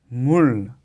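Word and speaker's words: 물: Y otro ejemplo, si no hubiera tenido la L como bachim aquí abajo, el sonido sería mu, pero con la L, como bachim, la pronunciación es mul.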